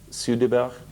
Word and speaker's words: Soderbergh: Finally, do you know how your surname is pronounced in Swedish? It's Soderbergh.